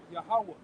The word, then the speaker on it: Yahweh: Pronounce that again. Yep. Yahweh.